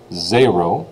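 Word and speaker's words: zéro: spelling of that will be zero now the pronunciation is what you really need to worry about for the quiz which is zero as I already said zero the um quiz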